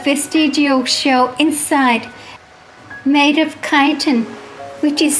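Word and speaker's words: chitin: they have a vestigial shell inside made of kiten which is spelled c h i t i n often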